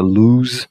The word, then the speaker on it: lose: Esse é um adjetivo, não tem como variar para NG, pronúncia loose. Esse é com o só pronuncia lose. Dá uma vibradinha aqui, vai tirar fora o e você vem aqui, ó, gamble e risk losing money.